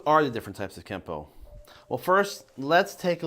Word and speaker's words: Kenpo: Japanese it becomes Kenpo now in the rules of kanji when a character ends with the letter N it will be pronounced with the n Sound unless it's followed by a character that starts with p in that instance the N makes an m sound so technically speaking it should be spelled Keno but pronounced Kempo now through romanization you will sometimes find it also spelled with the m and at this point